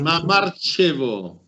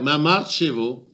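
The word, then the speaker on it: Mamarchevo: Mamartchevo. Mamartchevo? Ouais. Mamartchevo. Comme ça se prononce.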